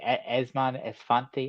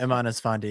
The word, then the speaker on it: Eman Esfandi: Esmon Esfanti, am I saying that right? Yeah, Eman Esfandi, yeah.